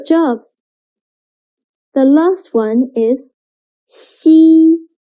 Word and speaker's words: xi: Xi sounds a little bit like the first sound of sheep, but when pronouncing xi, again, your tongue should be more flat, and you need to stretch your mouth to two sides.